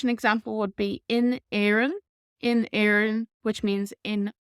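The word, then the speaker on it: Éirinn: now another word for Ireland in Irish is Aaron Aaron Aaron Aaron and again check Opera Dasha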